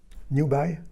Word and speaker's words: 牛掰: The pronunciation is new by. New buy. Yeah. New buy.